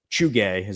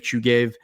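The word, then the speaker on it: Chuhuiv: a hospital in the town of Chugay, I think is how you pronounce it.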